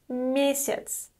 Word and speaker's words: месяц: The next word is месяц. Месяц. Note that the letter Я is pronounced as И here.